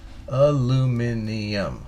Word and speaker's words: aluminium: how are you aluminium i can't say it like a british do a lumininia aluminium aluminium aluminium aluminium that's five syllables aluminium is that right